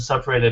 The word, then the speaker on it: separated: We just sort of remember that the word separated has four syllables. So if you say separated and you kind of you add a syllable or you take away a syllable, then we don't recognize it.